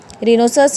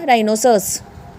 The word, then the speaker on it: rhinoceros: RHINOCEROS क्या बन गया, रिनोसस। क्या बन गया, राइनोसस। रिनोसस नहीं होगा, राइनोसस। Sometime H silent when comes